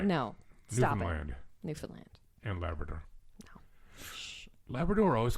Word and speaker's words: Newfoundland: It's like when people say Newfoundland. Right. No. Stop Newfoundland it. Newfoundland.